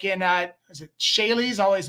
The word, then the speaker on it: Seychelles: just that are registered, like in is it Seychelles? I always mispronounce that. Those islands that you always see a random company with no direct management listed and Seychelles.